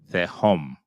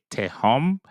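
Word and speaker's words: תהום: Some people would say te home, and they would pronounce the T sound, the hard sound for the tau, but to each his own. It's more TH sound, the home, the home.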